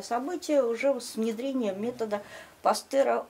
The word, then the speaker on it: Пастер: болезней по методу вы пастера на самом деле он пастер но просто нам произносить так не очень удобно создает в пастер свой